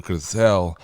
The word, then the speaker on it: Grisell: ladies and gentlemen please make some noise for gizelle Rodriguez great intro good I pronounced your name right I always feel like